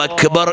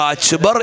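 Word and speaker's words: أكبر: അല്ലാഹു അക്ബർ എന്ന് പറയുമ്പോൾ ആ കാഫ് ആഫ്രിക്കക്കാരുടെ ഉച്ചാരണം ചെറിയൊരു മാറ്റത്തോടെയാണ്. ചിലപ്പോ അച്ബർ എന്ന് കേട്ടുപോയെന്ന് വരാം. അങ്ങനെ കാഫിന്റെ ഉച്ചാരണത്തിൽ എത്യോപ്യൻ സ്ലാങ്ങിലാണ്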